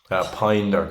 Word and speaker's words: Pijn: Pine is PIJN. Yeah. It's spelled like pigeon.